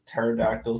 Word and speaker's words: pterodactyl: they're extinct no because it's it's pterodactyl so there's a silent p in there that's fair um northern